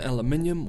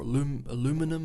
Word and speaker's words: aluminum: tariffs on steel and aluminium or aluminum as i think it's pronounced in north america would not be relaxed